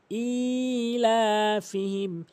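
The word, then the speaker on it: إيلافهم: এখানে হামজা একালিফ টেনে উচ্চারণ করতে হবে। ইলাফিহিম।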